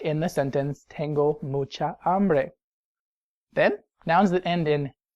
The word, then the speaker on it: hambre: But no, el hambre is really feminine like el agua. The H is silent, so it's really starting with an A.